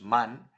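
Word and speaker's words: من: I, which is man, you're not saying man as in Dutch with the lazy a, but you're saying with the pronounced a, as for example in Spanish, when you say vale, the a, that's the one that you use in Farsi too.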